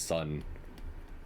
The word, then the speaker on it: Sun: And I was like, "No, his name is Sun, like the sun.